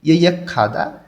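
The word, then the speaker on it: 예약하다: ইয়ে খাদা অগ্রিম বুকিং করা, গেয়কটা হিউতির স্থানে গিয়ে ক্ষয়ের মতন উচ্চারণ হবে।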